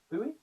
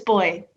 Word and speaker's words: Booi: Booi. Booi, that's right pronunciation? I'm being bad with pronunciations today. Boo? It's okay, you're allowed to. It's boy. Boy.